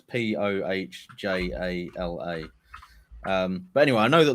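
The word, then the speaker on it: Põhjala: Pahala, but sorry, it's Pohjala.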